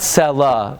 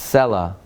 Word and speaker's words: Selah: It's not Selah, it's Selah.